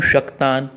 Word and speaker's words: शक्तान: श है, श नहीं है। श और श इनमें अंतर है। शेष श जो है शाहमृग वाला वो अलग है और श षटकोण वाला अलग है। श जो होता है ये इचुएशा नाम तालु तालव्य है और श जो होता है रुटोरषाणाम मूर्धा यह मूर्धन्य है।